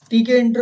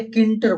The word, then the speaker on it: Tkinter: देखिए भैया, ठीक है, इंटर फ्रॉम टीके इंटर बोल रहे हैं या किंटर बोल रहे हैं? किंटर वैसे सही प्रोनाउंसिएशन है, लेकिन मैं भी टीके इंटर अभी तक बोलता आ रहा हूं तो मुझे भी आदत है। किंटर इज the right pronunciation from टीके इंटर इंपोर्ट स्टार।